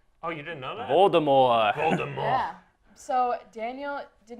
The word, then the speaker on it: Voldemort: And the T in Voldemort is silent, actually. What? Oh, you didn't know that? Voldemort.